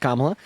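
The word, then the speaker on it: Kamala: uh first of all kamla Harris's name is pronounced kamla second of all you're right uh Donald Trump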